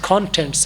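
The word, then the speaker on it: contents: تو کانٹینٹس کے حوالے سے جو صحیح تلفظ کانٹینٹس ہے، سی پر سٹریس دیں گے.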